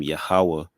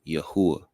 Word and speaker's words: Yahawah: A lot of us in Israel, a common pronunciation that we may hear, aside from Yahawah, is the pronunciation of Yahuwah.